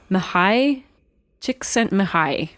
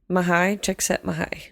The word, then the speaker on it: Mihaly Csikszentmihalyi: I tried really hard to learn how to pronounce I can't this wait. name. Mihaly Csikszentmihalyi. Is how the videos that I watched generally. Mihaly Csikszentmihalyi.